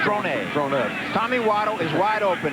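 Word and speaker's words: Dronett: I didn't realize he goes with the French pronunciation now. Drone.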